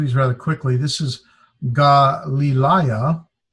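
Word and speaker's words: Γαλιλαία: This is Galilaya. It's pronounced with the Ga, Li, Li, So I got 1, 2, 3. There's a diphthong, alpha, iota, and 4 vowels. So there's 4 syllables.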